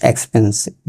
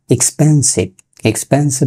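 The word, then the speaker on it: expensive: এক্সপেন্সিভ, নট এক্সপেন্সিভ বলি আমরা। এর উচ্চারণটা এক্সপেন্সিভ মানে ব্যয়বহুল, দামি, ব্যয়সাধ্য।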